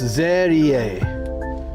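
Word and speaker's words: Serie: studio with the whole set. Shogun says Yeah, that's cool, right? The Rice Shogun says very kawaii. They say her name is pronounced Zerie. I thought it was Se, like, but it's Ze.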